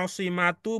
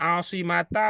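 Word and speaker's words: عَاصِمَةُ: yang lain apa pertimbangannya asimatu bukan asimata bukan asimati ya muannas bukan si kita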